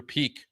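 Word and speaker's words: Peeke: it up here as Andrew Peak with a silent e.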